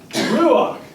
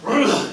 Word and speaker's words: ruach: The word in Hebrew, I'm not going to write it with the Hebrew characters because but it's pronounced ruach, or ruach, you got it, ruach, okay, in the Hebrew.